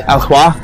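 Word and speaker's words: Alois: That's Alhwa. I think I'm pronouncing that correctly. A-L-O-I-S. Alhwa.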